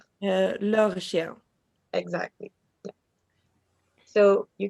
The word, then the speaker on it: leur: How do you pronounce it? Leur. Leur chien.